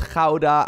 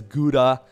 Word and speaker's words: Gouda: which as a dutch person i mean it's jauda i've explained this in the past it still hurts me just a little bit that people pronounce this as gouda but it is what it is anyways of